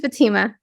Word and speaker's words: Fatima: do pronounce your name Fatima or Fatima I pronounce it Fatima yeah okay so again it's prettier that way